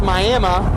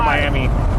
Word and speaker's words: Miami: soup and and pronounce Miami correctly. Miami. Miami. Wikipedia says Miami, but we can adjust if we got a local on there. Miami. Miami's for Oklahoma. Miami is for the beach.